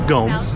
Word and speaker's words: Gomes: Gomez, would you like to face law? Rebar. Yes, sir. Please stop mispronouncing my name. It's Gomes.